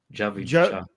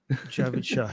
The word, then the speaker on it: Javid Shah: Armin won't let you pronounce it wrong. Javid Shah. Javid Shah, yes.